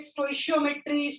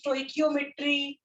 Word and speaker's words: stoichiometry: Some pronounce it stoichiometry, stoichiometry. Both are correct pronunciation.